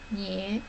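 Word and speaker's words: 女: It's pronounced as nye.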